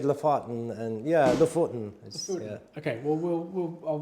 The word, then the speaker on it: Lofoten: How do you pronounce it? Lofoten? Lofoten? Lofoten, I suppose.